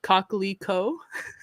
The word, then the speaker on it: coquelicot: A poppy, like the flower in French, it's pronounced like coquelicot. So it's a cocklicker.